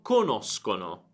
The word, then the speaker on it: conosco: noi conosciamo, voi conoscete, loro conoscono. Quindi ricorda la differenza di pronuncia: conosco, conoscono, e poi tutte le altre sono conosci, conosce, eccetera. Sk e sh.